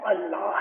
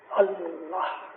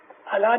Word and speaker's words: अल्लाह: तो खुदा के जाती उसका पर्सनल नेम है वो अल्लाह है। अलिफ लाम लाम लाम है, अल्लाह, अल्लाह नहीं, अल्लाह।